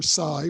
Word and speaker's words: psi: Psi, or the Greek letter psi, pronounced psi, is an umbrella term for certain types of psychic functioning, including telepathy, clairvoyance, precognition, and psychokinesis.